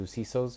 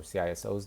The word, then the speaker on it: CISO: especially recommend it to cesos or cisos depending where you are in the word um the pronunciation of the acronym can be different uh I truly recommend